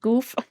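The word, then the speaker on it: Gouf: Goof. He's here. Full frontal. I'm just gonna do a little quick flip through here. There's Char. It is Goof.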